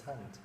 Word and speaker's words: Thanh: Yeah, just like in the recording I sent to you, my name is Thanh. It's spelled Tan.